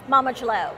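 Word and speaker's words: Mama D'Leau: Mama Jalo.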